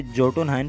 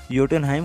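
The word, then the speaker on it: Jotunheim: Spelling के हिसाब से तो इसे जोटुनहाइन पढ़ा जाना चाहिए, लेकिन इसे योटुनहाइम कहा जाता है।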